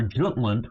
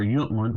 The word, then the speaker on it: Jutland: this is why after Jutland or yland however you want to pronounce it in World War I